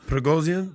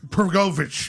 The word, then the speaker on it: Prigozhin: Prigozhin, this guy? Prigozhin, yes, Prigozhin, if I'm saying it right.